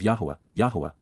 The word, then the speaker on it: Yahowah: And, to whom, Almai, has the Yisra'el, strong arm, protective ram, and sacrificial lamb, Yisra'el, of YAHOWAH, the proper pronunciation of the name of Eloah, God as